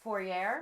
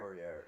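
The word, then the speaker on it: Fouéré: Olwen, I'm going to butcher her last name. I believe it's pronounced Fourier. Fourier, yeah.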